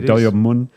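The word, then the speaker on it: Do-yeob Moon: Do Yeob Moon.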